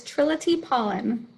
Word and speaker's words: Trillitye Paullin: her say her own name trill can you pronounce it for me absolutely it is trilogy pollen triloty pollen see i knew i was just going to